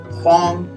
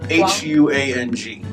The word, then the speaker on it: Huang: Okay, and then we also have Huang. Huang. Huang, yeah. H-U-A-N-G. Huang, yeah. Huang actually means yellow, but it's a surname in China too, so Huang.